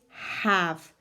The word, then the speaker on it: have: of the words is have have hmm well remembered I need that pesky Eon the end that II that's there but is silent we don't blend it we don't say it's